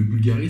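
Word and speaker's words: BVLGARI: C'est que en fait Bulgari, quand vous écrivez Bulgari, le premier U de Bulgari c'est un V et ce n'est pas un U. Donc on dit Bulgari, donc on dit Blue.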